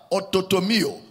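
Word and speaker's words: orthotomeo: Rightly dividing the word of truth is the Greek word there, ototomio. Rightly dividing is one word, ototomio. It's spelled as O-R-T-H-O-T-O-M-E-O, ototomio.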